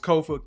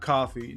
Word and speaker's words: Kofa: Once again, I've been your humble host, Kofa, K-O-F-A, not coffee, not kufu, not Kofi, or any variation thereof. Kofa rhymes with sofa, easy to say, easy to spell.